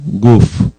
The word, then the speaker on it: guf: cuerpo se escribe o se pronuncia en la fonética hebrea gf guf es G de gato la u y la letra f de foco r nefes guf espíritu